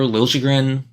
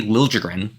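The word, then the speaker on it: Liljegren: I'd be looking for lren that's the way he want Timothy Timothy lren he wants the uh J pronounced now he wants he is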